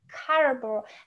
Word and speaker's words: Caroboo: can you pronounce it? I Caroboo.